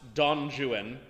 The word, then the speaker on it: Don Juan: hero um such as his improbably pronounced donjuan and I'm not kidding that's literally how you're supposed to say it uh Byron's heroes are